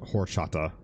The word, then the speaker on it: horchata: It's pronounced horchata.